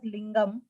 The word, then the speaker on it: linga: uh the second one first one we pronounce it as lingam and second one is linga yes so they're two